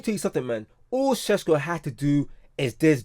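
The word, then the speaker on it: Šeško: Cesco. Shesco. Let me say his name properly. Shesco.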